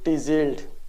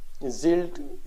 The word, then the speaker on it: Tzield: आजकल पेशेंट एक मेडिसिन के बारे में काफ़ी पूछ रहे हैं, वो है इंजेक्शन टीजील्ड। टी को अगर साइलेंट कर दे तो जील्ड इसकी प्रोनाउंसिएशन बन जाएगी।